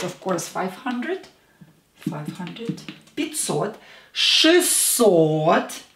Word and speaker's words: шестьсот: Шестьсот. Again, or is stressed.